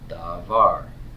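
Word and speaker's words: דָּבָר: This one had two syllables. This is davar, davar. Two syllables, because of two vowels.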